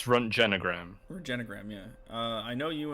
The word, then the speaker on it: Röntgenogram: Oh, that's also it's pronounced Röntgenogram, which is what a X-ray picture is called.